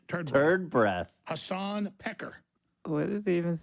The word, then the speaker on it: Piker: Hasan Piker. What is he even saying? Pecker. Oh, he called him Pecker, but it's obviously Piker. Yeah, it's not even like a Turkish sounding last name. Yeah. It's normally Piker, but still, like, it's pretty funny that he's